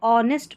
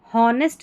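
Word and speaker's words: honest: अब इसको ऑनेस्ट पढ़ा जाएगा। क्या पढ़ेंगे? ऑनेस्ट। यहां पर इसको हॉनेस्ट नहीं पढ़ेंगे क्योंकि यह जो ऑनेस्ट है इसमें एच साइलेंट है इसलिए ओ से पढ़ा गया है ऑनेस्ट ई एस टी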